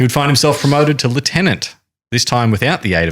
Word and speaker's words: lieutenant: Where's lieutenant? Navy. Air Force. Okay. Even though it's spelt lieutenant. That's correct.